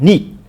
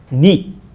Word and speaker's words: 你: So I create my own way of teaching my English speaking friends to learn to speak Chinese, like ni. But of course, you don't pronounce d, ni, right?